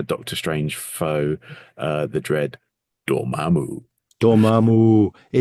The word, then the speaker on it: Dormammu: I can only say it like Vic Reeves in Shooting Stars. That's how I hear it. It's beautiful. Dormammu.